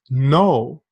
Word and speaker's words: know: think about the word know like to know something or not know something the K is silent KN o w because and now is